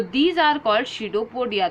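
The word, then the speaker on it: pseudopodia: P silent होता है बेटा, स्यूडोपोडिया इसे बोला जाता है।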